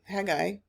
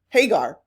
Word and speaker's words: Hagar: it that hag um Hagi did I say her name right Hagar there it is you would have hated